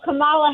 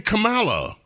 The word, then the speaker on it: Kamala: Also, Kamala Harris, to say her name incorrectly, that's not fair.